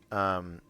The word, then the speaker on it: Cthulhu: I was double checking how you gain Cthulhu, the phonetically appropriate way to say Cthulhu. Cthulhu.